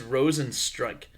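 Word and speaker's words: Rozenstruik: guy whose name is Rosen strike like strike you yeah well that just happens to be how his French name is pronounced can I get Rosen strike um give me a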